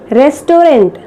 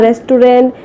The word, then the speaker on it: restaurant: We commonly people say it as restaurant. Okay, people usually say I am going to a 5-star restaurant to have a party or to have my meal, but it is correctly pronounced as restaurant. It is called as restaurant.